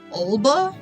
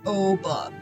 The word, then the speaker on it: Oba: One of the things about the main character, Oba, the way the English dub, the way that it's dubbed in English is they pronounce it like it's Olba with an O, but it's actually Oba.